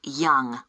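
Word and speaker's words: Yonge: That's spelled Y-O-N-G-E. That's Young.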